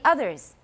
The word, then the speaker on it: others: the tip is it others what is that vowel is it ah it's not ah it's uh everybody please note this uh and remember it's a z sound at the end everybody others and not only that